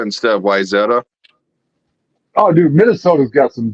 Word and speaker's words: Wayzata: That or the way my cousin's ex-husband always said Wayzata instead of Wyzetta.